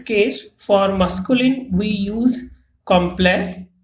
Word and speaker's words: complet: for masculine we use complex T is not pronounced and for feminine we